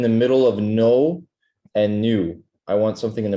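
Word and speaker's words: نون: with the letter noon you kind of say it like noon okay noon or new I want you to just keep it flatter and or make it like not know but new new there you go exactly it's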